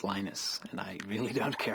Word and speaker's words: Linus: speak swedish it's venus when i speak finnish it's linos when i speak english it's linus and i really don't